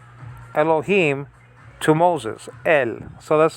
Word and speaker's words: Elohim: So that is to be pronounced together, that I-class and the yod, right after the hey. E. So elo, he. But that syllable is not complete yet, because there's a mem or an M at the end of this Hebrew word, Elohim.